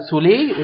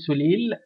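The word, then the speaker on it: Soleil: ايديال سولي وده النطق بتاعها يا جماعه، سولي مش سوليل، اسمها ايديال سولي.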